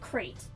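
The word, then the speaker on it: Krayt: This is modeled after my pet lizard, by named Krat, or the Krat dragon. Everyone pronounces it Crate. The Crate dragon of Tatooine. I understand that's the canon pronunciation of the dragon.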